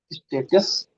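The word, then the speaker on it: Status: ये हो जाएगा स्टाटस, स्टाटस। है तो स्टेटस, लेकिन कैसे पढ़ा जाएगा? स्टाटस।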